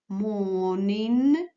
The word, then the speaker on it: morning: вечір Лон сон син пудин свині English morning і в ним пам'ятаємо що Бубочка ар не читається після голосної і в і внинне